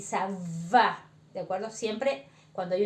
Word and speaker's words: ça va: Entonces ahí vemos que esta C con una colita así no existe en el español, se lee como S, ¿de acuerdo?